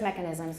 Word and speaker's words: mechanisms: when you do stress mechanisms make sure the stress is on the first syllable mechanisms and we're also going